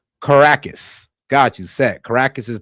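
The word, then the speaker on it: Caracas: It's pronounced Caracus.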